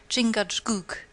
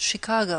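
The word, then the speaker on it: Chingachgook: his acute Indian experts chingad pronounced Chicago I think has lost the trail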